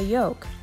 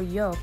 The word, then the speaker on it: yoke: All of our planes either have a control stick or another tool called a yoke. Another word with tricky spelling. Sounds like egg yolk, but it's spelled Y-O-K-E, and it does not come with bacon.